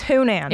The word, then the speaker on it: Hunan: I corrected your accent I was like it's Hunan that's how you say it h very delicious